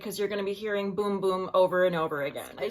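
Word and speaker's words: Bum Bum: my Sephora box arrived you know I've been pronouncing this bumbum cream and then people keep on commenting and saying that that's not the way you pronounce it it's actually boom boom so get excited cuz you're gonna be hearing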